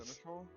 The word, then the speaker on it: Seneschal: Seneschal. Sounds Yeah, cool. it's Seneschal. Seneschal. Seneschal. That's all. Yeah. What a weird pronunciation.